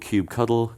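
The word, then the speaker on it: kubectl: then download something called Cube cuddle it's spelled Cube CTL but the nice way of saying it is Cube cuddle because that's friendly um so Cube coddle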